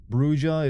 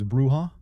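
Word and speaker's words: Brujah: Brua, it's Spanish, so you pronounce it J as H. It's Bruha.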